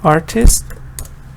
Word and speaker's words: artist: So it has two syllables because art, then there's a little dot here, and then you have ist. So two syllable. Where's the stress? This shows the stress is on the first part. Artist. Artist. Now if I search, for